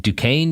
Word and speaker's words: Duquesne: So after law school, he went to Duquesne University in Pittsburgh. I think that's how it's pronounced.